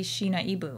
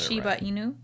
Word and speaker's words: Shiba Inu: though yeah but what so i would always say sheena ibu right and then you'd mix it up a little bit but then you've got shiba inu yeah okay so just